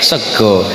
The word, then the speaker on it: sega: Ejaannya tetap 'sega', tapi dibaca 'sego '.